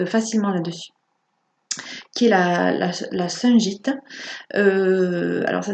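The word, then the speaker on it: Shungite: qui est la Sungite. Alors ça s'écrit S-H-U-N-G-I-T-E, qui est aussi une pierre noire.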